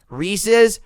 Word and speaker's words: Reese's: is a little fy because it rhymed reese's rhymes with pieces not reese's pieces what